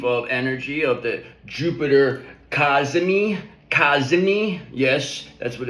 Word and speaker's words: Cazimi: We're going to be riding in this wave of energy of the Jupiter Kazmi. Kazmi. Yes, that's what it's that's how it's pronounced. Kazmi.